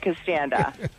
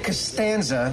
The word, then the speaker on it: Costanza: do you want George can stand up you purposely mispronounced my name instead of saying Costanza she can't stand yeah hey I'm here